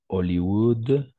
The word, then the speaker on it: Hollywood: par exemple or toujours le H est muet on ne prononce pas le H voilà mais attention